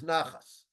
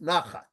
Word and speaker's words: nachat: Okay, or, you probably know it as nachas, right? So Here in Israel, we pronounce it nachat. Okay, but it's the same word as the Yiddish nachas.